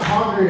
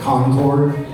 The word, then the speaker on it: Concord: not from around here, they'll probably pronounce it Concord. We don't pronounce it that way. We're not that sophisticated, okay? Say it like you've done meth at least a few times. Concord!